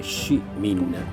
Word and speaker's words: Ciminna: appunto della della parola Ciminna che tra l'altro noi pronunciamo con la C un po' alla francese SH min quasi con una S dietro quasi con una o E provenga appunto dal